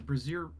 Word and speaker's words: brazier: Yeah, it's like saying Fraser, but with a B.